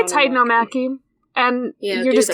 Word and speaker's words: Titanomachy: Okay, so guys, beforehand, I looked it up, and there were several pronunciations that are considered correct. We have the Titanomachy, that was one. Then we had the Titanomachy, which was... I'm gonna say Titanomachy, and Yeah, you're do just gonna have that.